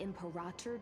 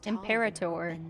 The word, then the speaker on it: Imperator: The emperator despises such rituals, especially. He said that so weird. Imperator is how they say it. Imperator is how I'm used to hearing that.